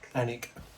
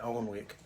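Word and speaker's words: Alnwick: from the guy from a place called anck an anic it's spelled a l n w i c k so I called it on Wick yeah but it's it's currently 9:48 a.m.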